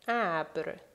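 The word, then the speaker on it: ابر: For A, we have an example like abr, abr, which means cloud. Now, as you can see, abr, the first letter, the first alif with the marker on top, is pronounced as A.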